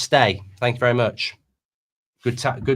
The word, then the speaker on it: Stage: Stage is pronounced stay.